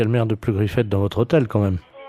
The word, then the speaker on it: Pleugriffet: Oui, de Pleugriffet. Alors, P R Comme ça se prononce, hein, Pleugriffet.